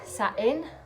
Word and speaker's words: Samhain: want to check it out yourself so um salwain pronounce satin celebrated as a couch festival halfway between the